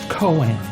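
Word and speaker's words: koan: cornerstones of Zen Buddhism k o a n is pronounced Cohen humans like to understand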